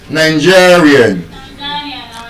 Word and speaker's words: Nigerian: And as we can see, because it ends with IAN, the penultimate stress rule will apply to it. It is stressed on the second to the last syllable. Nigerian.